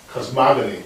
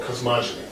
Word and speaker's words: cosmogony: given the Shand notation called cosmogony or cosmogeny depending how you want to pronounce it the other problem the